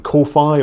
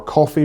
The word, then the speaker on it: Ko-fi: more accurately a paint on Kofi or coffee or however you want to pronounce it.